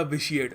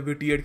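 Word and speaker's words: vitiate: और इसको प्रोनाउंस करने का तरीका भी याद रखना, कुछ लोग पता नहीं क्या कुछ और बोलते हैं, विटिएट कह देते हैं इसको, इट्स प्रोनाउंस्ड विशिएट।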